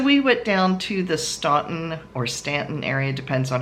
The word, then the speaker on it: Staunton: So we went down to the Staunton or Stanton area, depends on how you pronounce it. It looks like Staunton, but I've been told it's pronounced Stanton.